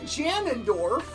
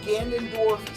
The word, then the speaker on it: Ganondorf: Do you also pronounce it Janendorf? No. I was about to pronounce it the Dread. Great as Dread. Yeah. So, there's this one VTuber who never heard the word Ganondorf said for the longest time, and she always